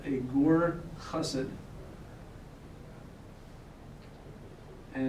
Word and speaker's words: Gur: There's also another term that is not related at all called a gur chassid. And it's sometimes pronounced as ger, a ger chassid.